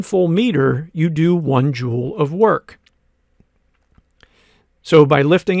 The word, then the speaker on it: joule: That word joule rhymes with school.